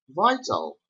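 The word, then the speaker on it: Βήτα: It is pronounced like V, like vaso, the vase. As we say the English words vital or vessel, and I will write it again.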